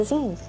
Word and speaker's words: zine: Today we are going to answer the question, what's a zine? Zine, pronounced like magazine, are DIY self-published magazines.